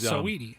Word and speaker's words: Saweetie: Can anyone tell me about, I don't know if it's pronounced Saweetie or Sweetie? She was Saweetie. Saweetie.